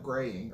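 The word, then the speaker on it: Groening: comments about Futurama Matt growing would have watched listen to it is it growing I think it's I think it's spelled growing but it's actually pronounced like graying or something along those lines the only person I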